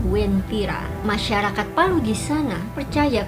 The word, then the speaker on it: Wentira: Namun karena pelafalan huruf U-nya ini tidak terbaca, akhirnya masyarakat setempat terbiasa menyebutnya dengan Wentira.